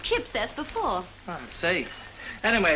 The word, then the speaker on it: Kipps: spelled that way I you say it not Q wipes no you pronounce it Kip s before I see anyway